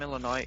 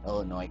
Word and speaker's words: Illinois: even, in America, who don't even pronounce Illinois correctly. Like, they'll say it's Illinois, because it has that IS on this.